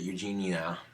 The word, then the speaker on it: Eugenia: So, there is a YouTuber by the name of Eugenia, or she pronounces it Eugenia, and she's a YouTuber by the name of Eugenia Cooney, and all I gotta say is, yikes, dude.